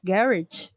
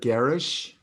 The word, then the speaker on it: garage: Observe that the word garage. Garage. No, many people say garage, but also many people say garage Okay. because it's a French. French word, yes, Mhm.